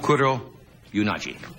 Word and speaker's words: Kuroyanagi: She is with us tonight, and I hope I pronounce her name right. Her name is Tetsuko Kuroyanagi. Yonaji. What? Yonaji. Yonaji. Yes. Kuroyanagi.